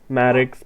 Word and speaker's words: Maddox: because I was thinking like madx Maddox Paradox I don't know it's so it's spelled it was spelled m a d d o x so this is Maddox but anyways we're geared